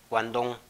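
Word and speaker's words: Guangdong: sí, en la actualidad se escribe Guandong, pero su pronunciación es Guandong, ¿sí?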